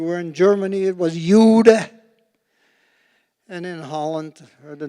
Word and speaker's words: Jude: If you were in France, If I pronounce it right, it was Youth. If you were in Germany, it was Jude.